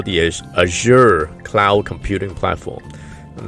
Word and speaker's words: Azure: And now they also have what they call the Azure cloud computing platform. I'm not even sure I'm pronouncing that correctly, but it's A-Z-U-R-E, Azure.